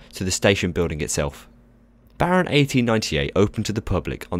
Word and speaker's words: Baron 1898: Baron 1898, famously pronounced Baron 1898 in Dutch, is a B&M dive coaster located at the Efteling in the Netherlands.